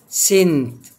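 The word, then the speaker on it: scent: نيجي بعد كده حرف السي، حرف السي لو جه ورا حرف الاس مش هنطق السي، مش هنطق الايه؟ السي. زي كلمة سين يعني مشهد، سنت يعني رائحة.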